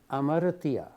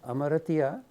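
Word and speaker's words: hamartia: translated as Sin is Amara written with an H but H is not pronounced so it may sound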